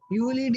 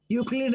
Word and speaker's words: Euclid: Euclid, E is silent, Euclid.